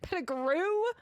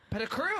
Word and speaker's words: Petticrew: If you can pronounce my name right, then yeah. What did I say? Pettigrew? Petticrew.